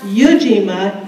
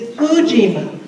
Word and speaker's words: Ujima: but I learned that the u sound in Swahili is pronounced who so actually it's not yojima it's fujima so naturally if I